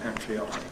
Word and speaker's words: patriotic: And the red line is ‘patriotic’ acquiring some currency alongside . OK.